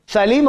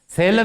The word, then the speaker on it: Salem: लेकिन वहां इसका प्रोनाउंसिएशन सेलम है। ये सालिम नहीं है जो ये कहता है सालिम, वो है सेलम, विंस्टन सेलम।